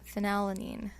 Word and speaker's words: phenylalanine: h e or f so i think of this as pronouncing it with an f sound so phenylene phenylalanine the chain is a